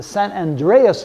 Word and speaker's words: San Andreas: then there is fall the Sun under the San Andreas Fault that's how we pronounce it the San Andreas Fault will run